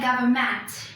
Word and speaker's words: government: Or do we say government? Where is the stress? The stress, as you can see here, is on the first syllable.